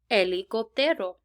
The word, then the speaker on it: helicóptero: What's so cool about the letter H is that it's actually silent, so you're never going to pronounce a letter H in Spanish. So in the corner you see a picture of an helicóptero, and the helicóptero starts with H, but